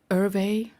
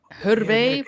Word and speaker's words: Hervé: It's a French name. I can't see it, so I'm sorry. Oh man, it's Hervé. Look. Oh. Hervé, but it's like Hervé. Yeah.